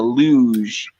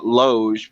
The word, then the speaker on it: loge: company seats in the luge i always mispronounce it i think it's la uh loge but i'm calling it and